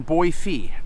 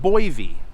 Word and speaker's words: Boise: And you'll notice that I keep saying Boise. Just remember, that's how they say it out here. It's not Boise, it's Boise.